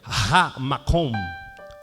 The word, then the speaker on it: Ha-Makom: Moriá significa, a expressão Moriá em hebraico é Ha-Makom. Ha-Makom. Separado. Ha, do jeito que se escreve H-A, traço Makom.